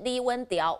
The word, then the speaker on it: 李允條: 李允条，用台语发音就是李文条，稳上的意思，还